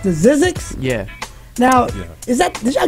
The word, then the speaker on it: Zzyzx: the top now collectively you guys is it pronounced to Zzyzx yeah now is that I'll get that from